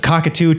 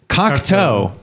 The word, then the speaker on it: Cocteau: Not to be uh not to be confused with the Cockatu twins, which is what I was calling them for about 10 years. Uh how do you pronounce him again? Cockto.